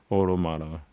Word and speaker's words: Automata: Automata. It's like automate with the A at the end.